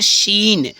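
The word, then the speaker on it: scene: silent हो जा अगर एस के बाद फ्रेंड्स सी आ रहा है तो एस के अगर तुरंत बाद सी आ रहा है तो सी क्या होता है साइलेंट हो जाता है जैसे सीन सीन में क्या होता है एस सी ई एन ई होता है तो सीन होता है बट यहां देखो सी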